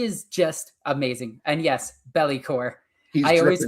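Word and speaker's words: Be'lakor: And yes, Bellycore. I always pronounce it I always pronounce it belly because I always imagine that he's belly dancing towards you.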